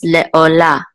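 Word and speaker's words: לעלה: kamatz, which says la, and the hey is silent. So this is le'olah.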